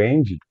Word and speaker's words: end: Jamais, jamais pronunciar com som de DI aqui no final.